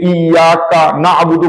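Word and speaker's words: إياك نعبد: ইয়াকা এই কাটা ইয়ার শেষ অংশ তো ইয়াকা শেষ অংশটাকে নাবুদুর সাথে মিলিয়ে ইয়াকা নাবুদু বলা হয় এইভাবে ওয়া ইয়াকা নাস্তাইন ওয়া ইয়াকা একটা শব্দ নাস্তাইন আলাদা শব্দ কিন্তু পড়ার সময় ইয়ার পরে কাফটাকে নাস্তাইনের সাথে মিলিয়ে পড়া হয় এটাই নিয়ম মাঝখানে থেমে পড়া মোটেই ঠিক নয় যে ইয়াকা নাবুদু পড়া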